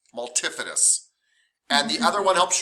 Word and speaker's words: multifidus: say it wrong too i say multi-fitty but it's multifidus and the other one